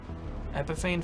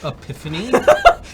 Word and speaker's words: Epiphany: Epiphane Fields? That joke's never gonna get old. Actually, it's pronounced Epiphany.